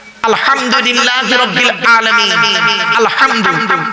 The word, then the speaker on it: আলহামদু: আলহামদু এই গলার ভেতর থেকে এটা উচ্চারণ করবেন, বাপেরা হাতে ধরে বলে যাচ্ছি।